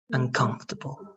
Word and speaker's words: uncomfortable: The stress now is good, but remember that the O is not going to be pronounced. Okay, so it's going to be uncomfortable. Uncomfortable.